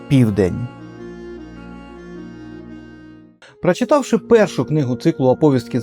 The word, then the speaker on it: оповістки: Я кажу оповістки, а правильно оповістки.